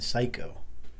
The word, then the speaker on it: psycho: are silent letters, like the P in Psycho.